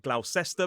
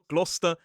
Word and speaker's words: Gloucester: We also see it in Gloucester, which looks like Glausester, but no, it's Glouester and Worcester, which also lends itself to a source.